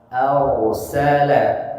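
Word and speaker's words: أرسل: Kemudian ayat ke-3 dan ke-4 huruf ro sukun diawali dengan fathah, cara bacanya ditebalkan ro-nya. Arsala, tidak arsala, keliru.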